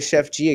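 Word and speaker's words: Sheff G: don't believe so because it's spelled s-h-e-f-f oh like sheffield oh sure yeah whatever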